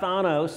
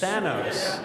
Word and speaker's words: Thanos: And I talked about Thanos in Avengers Endgame, right.